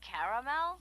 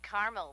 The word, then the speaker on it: caramel: Oh, the caramel? Yeah, that's what I said, Tina. Actually, you said caramel when it's pronounced caramel.